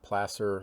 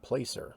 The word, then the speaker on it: Placer: Dutch Flat, California, Placer Mining Scars. The longest time I called that Placer, but it's Placer.